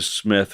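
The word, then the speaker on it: Psmith: is leave it to Smith and we must always remember that the p is silent as in pterodactyl uh and uh it's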